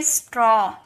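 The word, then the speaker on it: straw: तो ये हो गया स्ट्रॉ स्ट्रॉ नहीं स्ट्रॉ।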